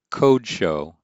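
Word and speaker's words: קדשו: Elohim Yashav al Kasei Kadsho. Or as I was taught to pronounce it, code show, to show that that is an O class vowel at the beginning.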